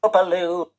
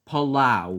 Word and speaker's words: Palau: Palau It's pronounced Palau.